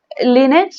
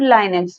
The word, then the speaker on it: Linux: Then we have Linux or Linux. Both the pronunciation is correct. One is American language and the other is British accent. Okay, both are correct.